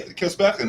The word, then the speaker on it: Kilsbergen: It's actually Kilsbergen, right? Is that how to say it? Say again? Is it? Kilsbergen? Kilsbergen, yeah. Kilsbergen. It's like Swedish.